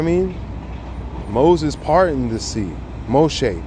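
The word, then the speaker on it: משה: Moshe, my bad, not Moses.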